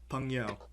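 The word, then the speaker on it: 朋友: Okay, you're gonna have to forgive my pronunciation here. Feel free to correct me. Is it Peng Yu? Yeah, yeah, 朋友. Peng Yao.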